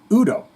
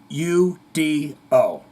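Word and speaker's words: U.D.O.: the band Udo wrong there are periods in the name yes for the for a reason yep it's pronounced Udo thank you Mike it's Udo Udo Dirk Schneider overdrive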